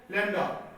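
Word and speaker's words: λ: This symbol is called लैम्डा, इट is pronounced as लैम्डा।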